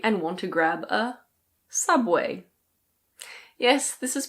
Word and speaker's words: Subway: And then you might get a bit hungry and want to grab a Subway. Yes this is pronounced Subway. It's not "soob-way".